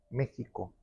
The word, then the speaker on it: México: donde proviene la palabra México México mal pronunciado por españoles y estas esta tribu